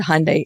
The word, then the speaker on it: Hyundai: um but we always we would always say say Hyundai like Sunday and but it was